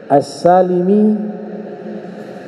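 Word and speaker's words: السالمي: kalangan para para santri assulami nama suku Bani sulaim assalimi suku bernama Banu Salamah asalami enggak ada hubungan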